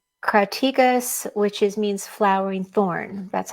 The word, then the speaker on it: crataegus: And it was also called crataegus, which means flowering thorn. That's how you pronounce that name.